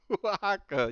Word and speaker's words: Oaxaca: All right, your boy Guy's Toy says it's pronounced Oaxaca, you gringo.